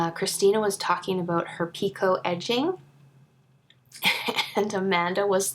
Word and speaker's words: picot: And I was like, we are two peas in a pod, because picot is a French word, so you don't say the T on the end.